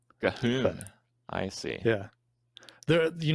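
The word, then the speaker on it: Ghuun: and Blood of Goon and Goon the Blood God. Am I pronouncing that right? Gahoon. Gahoon.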